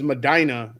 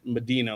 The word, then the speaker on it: Medina: There's Madina in Ohio and I was pronouncing it Medina, like funky cole Medina, and I got in trouble for that, too.